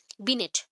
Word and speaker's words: Binet: सो बिनेट को यहाँ पे ना NET जो है टी प्रोनाउंस नहीं किया जाता, बिने। मैं स्पेलिंग के लिए आपको बता दी बिनेट, बट टी प्रोनाउंस नहीं होता है, तो उसके अकॉर्डिंग क्या हो जाएगा? बिने।